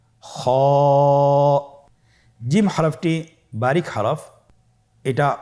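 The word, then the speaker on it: خ: খ হরফটির মাখরাজ হলো কণ্ঠনালীর শেষ ভাগ হতে উচ্চারণ করতে হয়, কণ্ঠনালীর শেষ ভাগ। আপনারা আমার সাথে বলুন খ, আবার বলুন খ।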